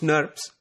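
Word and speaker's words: snRNP: protein RNA complexes called snobs small nuclear ribonucleoprotein particles that are abbreviated as SN R and PS or pronounced nerves there are two types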